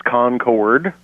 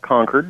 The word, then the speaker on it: Concord: that are near Charlotte it's Concord It's Not Conquered it's not the grape it's the plane and